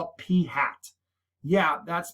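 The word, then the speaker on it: p̂: that came from a sample, we call it p hat. Yeah, that's pronounced p hat. It's literally a p with a little hat on top of it. It's called p hat.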